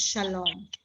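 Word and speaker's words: שלום: over here right right so we learn the shin the ah the lamin the o vowel and the final mem and now it's shalom okay so if i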